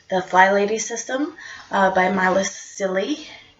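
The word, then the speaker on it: Cilley: For those that aren't aware, what I'm referring to is the FlyLady system by Marla Silly. I'm always not sure how to pronounce her name until she said it's silly.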